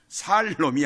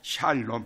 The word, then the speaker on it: 샬롬: 살롬이 아니고 샬롬. 발음을 잘해야 돼요.